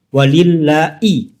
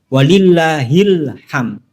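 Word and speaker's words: ولله الحمد: Ini juga salah walillahi bukan i tapi hi walillahil hamd.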